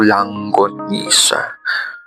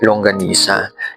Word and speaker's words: longanisa: St calling Anyway longanisa minsan nasasabi ko langonisa pero sabi ni Wala daw langonisa doesn't exist so ang tamang pagpronounce ay longanisa and may mga nabasa